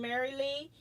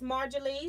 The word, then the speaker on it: Marjorie: I used to say that, but then I wondered if the J was silent, so I've been saying Mary Lee, but it is Marjorie.